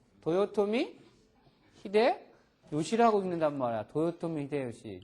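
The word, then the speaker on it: 豊臣秀吉: 이름이잖아이 우리나라 침략했던 저기잖아 뭐라고 읽어 도요토미 히데 시라고 읽는 말이야 도요토미 히데요시 좀 일본어 배우는 사람은 최소한 고유 병사에 대해서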